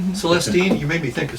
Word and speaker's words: Celestine: Celestine. Accent on the second syllable.